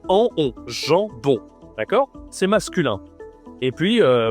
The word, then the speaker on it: jambon: Le jambon. Toujours la nasale. Il y a deux nasales même en jambon.